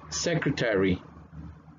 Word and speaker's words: secretary: Sonido fuerte en la primera, sílaba, C, porque tiene el sonido del apóstrofe ahí. Entonces tiene fuerte, C, y luego viene el sonido de schwa con la K, entonces cre, cre.